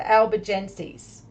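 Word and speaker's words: Albigenses: Catholic church called them the our um the Alba Genesis the Alby Genesis the albigensis and that is spelled a-l-b-i-g-e-n-s-e-s all right so again yeah I'm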